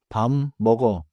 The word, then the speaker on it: 밥 먹어: 밥 먹어 is usually heard like 밤 먹어 because of another sound rule but not because of this linking rule. important can become 밥안 but 밥먹어 does not become 밥어 이제 실제 짧은 대화로 들어볼게요.